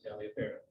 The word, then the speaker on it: Taliaferro: Well, I had a friend who spelled his name the same way back home, and he pronounced it Taliaferro.